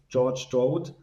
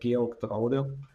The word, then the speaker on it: Georg Draude: The German pronunciation is more like Georg Draude. And Are you going to make me try that? no, you don't need to. It took me 50 years of my life to understand that my family name, if I pronounce it French, everybody understands it. If I pronounce it German, nobody understands it.